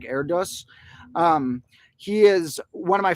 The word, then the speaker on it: Erdős: Technically, I think it's pronounced Erdős or something like that, even though it looks like Erdős.